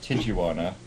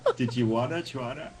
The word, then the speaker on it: Tijuana: Flamicus, we've got Tijuana. Juana? How do you pronounce? I can't do Mexicans. Juana? Do you say the J or do you say H? It's an H. It would be an H.